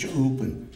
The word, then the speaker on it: Ɂúpǝnkst: And I also want to recognize that we have, tonight we had, in the Salish language, tribal council is pronounced Cha'upan. And Cha'upan simply means the 10.